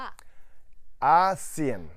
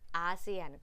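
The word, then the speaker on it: ASEAN: ทาง เศรษฐกิจ เท่า นั้น ขอ ออก เสียง ชัด ๆ อีก ที มี เอเชีย แล้ว ประชาคม อาเซียน อ่าน ว่า อาเซียน เอเชีย อาเซียน คราว หน้า กระชับ กัน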